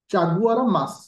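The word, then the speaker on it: Chaguaramas: रखियो very important point एटा चागुरा मास टिके pronunciation एपट सेपट हबो चागुआरा मास MAS ए ट्रिटीर नाम को मन रखियो ए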